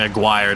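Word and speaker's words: Aguirre: Clippers up by two apparently a guire not a gir I've heard it pronounce multiple ways think more Spanish pronunciation I guess in a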